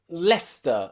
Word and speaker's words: Leicester: there are cities and places in english that often have a silent sea especially in my country the uk england where i live there are places like leicester and gloucester and worcester okay and nearly all of